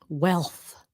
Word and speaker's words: wealth: Yes. Wealth at the end. And then a th at the end. Okay. Look well wealth. So to help you even if the L is difficult make sure you try to say the th.